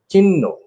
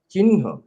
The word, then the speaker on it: চিহ্ন: যেমন চিহ্ন শব্দটি কিভাবে উচ্চারণ করব, আমি দুই ভাবে জানি, দুই রকম করে জানি। চিহ্ন বলা হয়েছে, কিন্তু আমি যেটা অনুসরণ করি পরের নটে হ দেওয়া হয়, চিহ্ন, এটাকে আমি মানি।